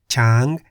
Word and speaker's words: ช้าง: For example, Gai in the low tone meaning chicken, Kwai in the middle tone meaning buffalo, Chang in the high tone meaning elephant, So in